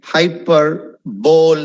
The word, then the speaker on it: hyperbole: Okay, it's a bit difficult word if you want to take it, but it is pronounced very differently. Hyperbole nu പറയുന്നത്. HYPERBOLE. But it's not hyperbole, it's hyperbole. Hyperbole.